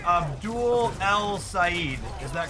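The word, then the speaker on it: El-Sayed: Syed. Abdul El Syed. Not Eid Ed.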